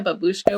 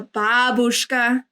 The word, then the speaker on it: babushka: But isn't that what like a babushka wears? Like a babushka. The accent is on the first syllable.